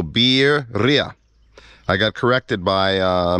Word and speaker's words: birria: product which is the Berea or properly pronounced you say the word beer and then Ria so beer Ria I got corrected by